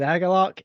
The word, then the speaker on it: Agalloch: Agalloch? It is Agalloch.